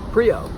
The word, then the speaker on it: Prio: this is my review of the zero shoes pre oh so prio from zero suit spelled with an X first off I just want